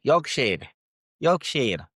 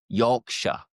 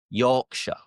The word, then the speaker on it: Yorkshire: The majority of which ending in Shia, you know, like the Lord of the Rings, the Hobbits, they are from the Shire, but we don't pronounce it like Shia.